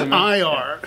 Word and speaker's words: Nir: N-I-R. So, but it sounds like N-E-A-R. It's pronounced Nir.